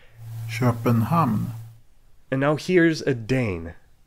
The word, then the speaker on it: Köpenhamn: So here's how a Swede says Copenhagen. Köpenhamn.